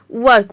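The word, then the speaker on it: work: और आर यहाँ पे साइलेंट है, क्योंकि उसके बाद के आ रहा है, के कॉन्सोनेंट साउंड है।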